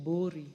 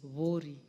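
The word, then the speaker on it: Buuri: Some people would like to call it Bori, but it is Vori. That's the correct pronunciation, Madam Speaker.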